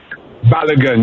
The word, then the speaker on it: Balogun: Balogun.